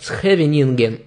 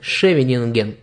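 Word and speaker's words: Scheveningen: К примеру, у голландцев проверочным словом было название города «Схевенинген», так как они произносят начало слова «сх», а немец скажет «шевенинген».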